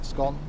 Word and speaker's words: scone: If you want to complain about a missing scone, it has to be pronounced one way. Scone, gone. Scone, gone.